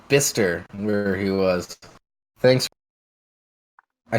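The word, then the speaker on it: Bicester: That's it's pronounced Bister where he was.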